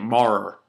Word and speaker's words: Maurer: And that's how you say it, Marr.